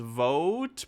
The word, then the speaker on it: Voat: to go to voat which or might have been pronounced vote but it was it was spelled like voat that failed specifically because